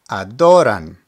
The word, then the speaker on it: adoran: Ador means to praise remember words that end with a vowel or the letters n or S have the emphasis on the second to last syllable so we have adoran adoran words that end in